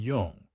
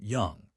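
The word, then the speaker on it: Jung: My grandfather said she used to read Freud and Yung. He pronounced it young.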